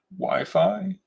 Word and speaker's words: waifu: It's the anime girl of some anime otaku's dreams pronounced wifi.